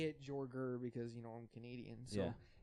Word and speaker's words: Jorger: Is the original pronunciation of your name Jorger? No, it's Jorger. Okay. Yeah, it's Jorger. Seems like like a it should be tiger.